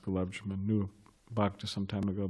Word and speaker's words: gulab jamun: was apparently really into gulab jamans, those sweets, like little donuts or whatever. Or gulab jabos, what is it? What is it? One devotee said some kind of mispronounced gulab jamun, knew Bhakti some time